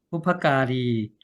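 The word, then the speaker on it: บุพการี: 자, 그 다음에 뒷부분에 보니까 부파까리자, 부파까리 이렇게 부파까리 길게 이렇게 발음하면 됩니다.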